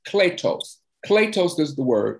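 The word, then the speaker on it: κλητός: So in the Greek, the word called means, or it's pronounced kletos.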